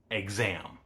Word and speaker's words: exam: But it can also be G Z. One example is the English word exam.